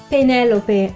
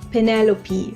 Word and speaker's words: Penelope: Penelope, it's pronounced Penelope, not Penelope.